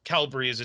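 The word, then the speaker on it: Kalbsbries: Calbries. It's just two syllables.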